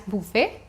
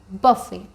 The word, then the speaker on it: buffet: It's a French word, so it's not pronounced as buffet. The pronunciation will be like buffet.